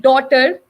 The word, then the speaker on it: daughter: So in words like daughter, night, thought, GH is written, but it is not pronounced.